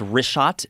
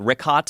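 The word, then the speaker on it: Richat: In the first couple uh I just want to say it's Rishot. I used to call it Rickot.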